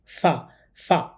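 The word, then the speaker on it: ف: এই হরফটা উচ্চারণ করার সময় উপরের দাঁত নিচের ঠোটের সাথে লাগিয়ে উচ্চারণ করতে হবে। ফা ফা এবার আমরা বানান এবং উচ্চারণ করে পড়ছি।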